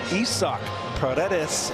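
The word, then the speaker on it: Isaac Paredes: base his sixth start at first base that's isoc Paredes at third base folks that's the proper pronunciation just thought I'd throw that in there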